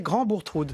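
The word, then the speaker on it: Grand-Bourgtheroulde: C'est de vous que je tiens le fait qu'il faut prononcer Grand Bourtroud.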